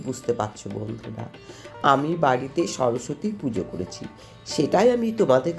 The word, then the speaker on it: সরস্বতী: সরস্বতী কথার আসল উচ্চারণ হলো সরস্বতী।